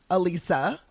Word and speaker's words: Alisa: whichever one you want to call her Alissa Alisa Alisa like I always tell people this is